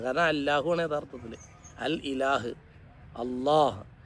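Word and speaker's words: الله: അല്ലാഹുവാണ് യഥാർത്ഥ അൽ ഇലാഹ് അള്ളാഹ് അപ്പോ അല്ലാഹ് എന്നത് അള്ളാഹ് എന്ന അങ്ങനെ തഫ്കീമാക്കി ഘനപ്പിച്ച് ഉച്ചരിക്കുന്നതാണ് അല്ലാഹ് എന്നത് അള്ളാഹ് എന്ന്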